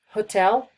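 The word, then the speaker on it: hôtel: The same goes for hotel, we don't pronounce the H. Hotel, hotel, host, hostel.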